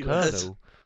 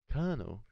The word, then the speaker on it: Colonel: Why is it pronounced Colonel? Colonel. Why is it pronounced Colonel when there's like an L in the middle?